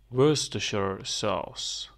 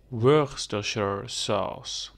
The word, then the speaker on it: Worcestershire sauce: sauce one more time Worcestershire sauce so you don't say the RS mainly you say Worcestershire sauce yes so we cut it in pieces you say were stir share sauce were structure sauce yes